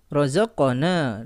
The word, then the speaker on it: رزقنا: Di sini ada qaf sukun, dia memiliki hukum qalqalah sughra, ya, karena dia memiliki sukun asli dan berada di pertengahan. Dan membacanya, ya, cukup memisahkan kedua sisi makhraj dari huruf qaf, ya, tidak perlu diakhiri dengan hamzah.